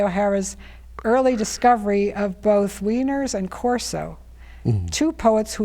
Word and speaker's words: Wieners: Is Wiener the correct pronunciation? Yes, John Wieners.